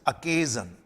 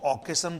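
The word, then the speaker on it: occasion: और इसका प्रोनाउंसिएशन भी ध्यान दीजिए, दिस इज अकेजन। कुछ लोग इसको ऑकेशन बोल देते हैं, इट्स नॉट ऑकेशन, इट्स अकेजन, अकेजन।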